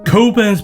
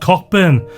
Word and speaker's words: Cockburn: My surname as is this tipple spelled as described but pronounced coburn. Whilst this advert finally gave my protest it's not cockburn some credibility.